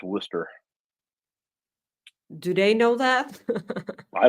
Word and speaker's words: Worcester: it right no no I learned that from Jim Ross that it's Worster do they know that